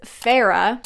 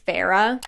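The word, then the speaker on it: Feyre: be patient with me the next one is Farah that's how you pronounce Farah's name I thought it was pronounced like fair this does make sense but it is Farah like Fair uh Farah then we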